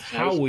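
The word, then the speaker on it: Huawei: Aui, Owie, Howie, that's how you say it. Yep. they're one of Oway, the Aue.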